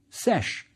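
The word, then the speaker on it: sš: Yes, it's scribe, which ends at the man determinative, and it's pronounced sesh.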